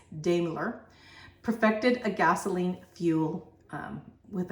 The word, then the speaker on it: Daimler: first automobiles in 1886 Gottlieb Daimler or damular but if I pronounced that right but I think it's Daimler perfected a gasoline fuel